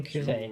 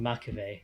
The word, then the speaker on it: マクベ: に大きな損失を与え、その包囲網を突破して去っていく。ガルマザビ大佐の死に将兵たちが悲しむ中、闇夜のフェンリル隊に新たな指令が下る。連邦軍は反攻の第一歩としてオデッサ作戦を計画。中央アジア一帯に広がるジオン占領下の鉱山基地軍の制圧を目的とした大規模な反攻作戦が実施されようとしていた。このオデッサの防衛としてマクベ司令からの支援要請を受けた闇夜のフェンリル隊は、 Wait, that's how you pronounce. I thought it was 中 Mkuve. 央アジアに向かうこと Okay, と Makuve.